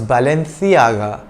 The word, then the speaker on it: Balenciaga: a spanish brand and in the spanish spoken in spain c is pronounced th so its original pronunciation was balenciaga like the th in